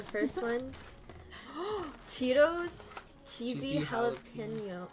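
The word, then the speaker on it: jalapeño: So the first one's Cheetos cheesy Cheesy jalapeno. How do you say I say jalapeno. Jalapeno, like Filipino.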